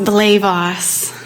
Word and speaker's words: Blejwas: It's pronounced Blejwas. Blejwas. Blejwas, yes, is Polish, but it's unusual even for a Polish name, I'm told.